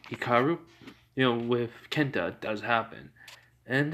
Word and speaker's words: Hikaru: Yeah, so the Beyblade fight between Haku, raw name, pronunciation, Hikaru, with Kenta does happen.